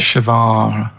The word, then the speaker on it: Guevara: and his surname is like guitar. Right. Shavar.